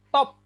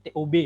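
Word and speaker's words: טוב: Contoh, top, ini bacanya top, tapi TOB ya, bukan TOP, baik.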